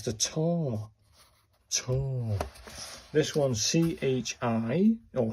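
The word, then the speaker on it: ち: This one's C-H-I, or it's pronounced like C-H-I, in Tai Chi.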